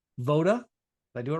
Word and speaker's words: Voda: So, Dan is the founder and CEO of the Playbook, My Franchise Playbook, which is also owns a franchise called Voda.